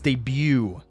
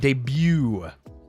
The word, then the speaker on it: debut: you know I'm like no it's debut the t is silent debut though I do laugh